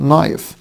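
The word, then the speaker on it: knife: سكول اتش سايد برده حرف الكاي لما يجي وراه ان الكاي بيبقى صايع لان شكله نايف نايف نايف جزيره يعني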